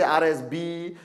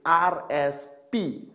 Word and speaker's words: RSP: Now, this is causing a lot of, people can't even pronounce it. I met some people from some countries, they say RSB, RSS. It's RSP.